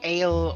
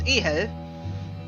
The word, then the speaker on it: Ehel: Interestingly, in England, where I live, people have trouble pronouncing Ehel, and they call it Ale or Ehel or something like that, but it's Ehel.